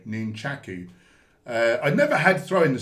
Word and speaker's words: nunchaku: That's the actual way you pronounce it, by the way, nunchaku.